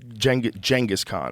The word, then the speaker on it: Genghis Khan: On Genghis Khan is the correct way to say it.